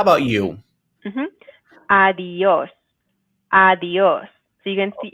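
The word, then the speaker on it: adiós: i'm saying both of those sounds but together adios adios erica how about you adios adios so you can see you can hear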